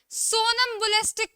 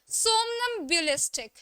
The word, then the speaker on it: somnambulistic: सोनम्बुलिस्टिक कोई नहीं बोलेगा इसे. सबसे पहली बात है, इट्स करेक्ट प्रोनाउंसिएशन इज सोमनम्बुलिस्टिक. ठीक है, सोमनम्बुलिस्टिक. सोनम्बुलिस्टिक कोई नहीं बोलेगा, it's called सोमनम्बुलिस्टिक, which basic means a person who suffers from somnambulism.